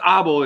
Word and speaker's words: Abel: It's Abel in Dutch, so Abel.